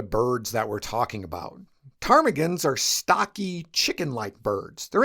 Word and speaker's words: ptarmigan: The P was added to the name because early ornithologists just kind of assumed that the word had Greek origins.